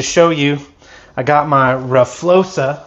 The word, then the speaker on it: RFioXa: I got my RFioXa. I understand that's how you pronounce this, RFioXa. That's how I'm told, and it's my rear shock.